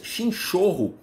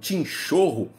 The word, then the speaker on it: chinchorro: Por exemplo, nós temos as múmias chinchorro, ou chinchorro, dependendo da pronúncia, que são corpos mumificados